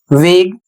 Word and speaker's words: vague: अगला शब्द है VAGUE वेग, इसकी हिंदी होती है अस्पष्ट।